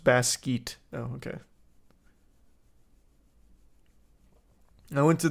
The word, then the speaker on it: Basquiat: It's pronounced Basquiat.